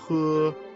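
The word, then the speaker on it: 呵: The pronunciation of he, similar to the English word her, the pronunciation is assisted by the tongue. When exhaling to pronounce this word, pull the tongue back slightly and slowly exhale air from between the tongue and the upper jaw.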